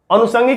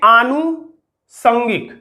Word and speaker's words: आनुषंगिक: आनुष पे रटना है, आनुसंग, आनुसंग, अनुसंगिक नहीं आनुसंगिक।